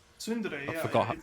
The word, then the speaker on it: Tsundere: Or Sundere. Tsundere, yeah. I forgot. It's a very soft T. You pronounce the S harder.